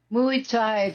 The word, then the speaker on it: Muay Thai: Muay Thai, that's how you say it.